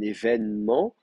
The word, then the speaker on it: événement: On a tout un tas de cas où un événement, on dit un événement, donc on prononce comme si c'était un accent grave alors qu'on l'écrit avec un accent aigu.